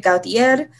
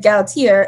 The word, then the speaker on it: Gautier: puerto rican um and in puerto rico they pronounce it gautier but my grandmother is not puerto rican and she's african-american and she didn't know how to pronounce it so she always said gals here and then as